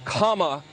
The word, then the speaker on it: Kamala: um hosts on fox her name is pronounced comma like the punctuation mark look kamala okay seriously